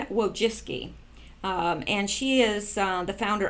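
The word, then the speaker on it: Wojcicki: I went out and I actually listened to her pronounce it and then I put this in brackets for me so I won't forget whoa jiske and whoa jiske and she is the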